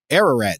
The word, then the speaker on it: Ararat: Aurora I don't know how to say this Ararat there you go which was thought by Europeans